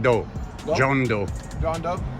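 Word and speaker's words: Deaux: It's pronounced Doe.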